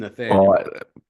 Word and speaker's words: Nathaniel: It's Oh, Nathaniel.